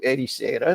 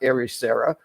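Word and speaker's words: Ericeira: a Portuguese pronunciation so I'm going to erisa not erera I'm going to Porto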